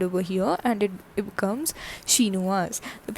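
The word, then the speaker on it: chinoise: the pronunciation becomes shinua here s is pronounced because an extra e is added at the last and in french we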